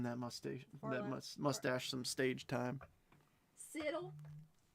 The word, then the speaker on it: Seattle: Siddle. It's Dana's fault. Everything is Dana's fault. Any true Washingtonian pronounces it Seattle. We do not say our T's.